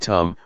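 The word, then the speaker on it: ธรรม: The dhamma, in Thai pronounced in the same way as the word tum, which means to do, refers to nature that exists by itself.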